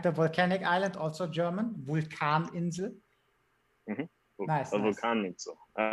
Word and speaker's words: Vulkaninsel: Vulkaninsel. Nice, A nice. Vulkaninsel. All right, now I know how to pronounce them.